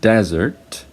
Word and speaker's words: desert: word desert for example so when I say desert the first syllable has a long vowel if I say desert so desert means an arid land or a dry land as the meaning of desert right and the first syllable is stressed because it's a noun so death the the